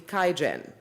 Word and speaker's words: QIAGEN: Thomas Schweins, Vice President, Strategy and Marketing and member of the Executive Committee, QIAGEN. I did pronounce QIAGEN right.